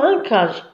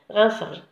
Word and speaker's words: rinçage: rinçage هنا rinçage attention ديروا لها la cd sinon نقراوها rincage d'accord سي هادي ديروا لها la cd تحتها باش تنطق rinçage.